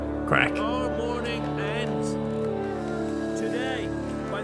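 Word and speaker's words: Crach: that's crack but it's his it's his name pronounced crack our morning ends today by the grace of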